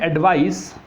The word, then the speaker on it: advice: 2 word हम देखते हैं, एडवाइस एंड एडवाइज। इसका प्रोनाउंसिएशन, इसका जो उच्चारण हम करते हैं वो एडवाइस होता है, इसका प्रोनाउंसिएशन क्या होता है, एडवाइज।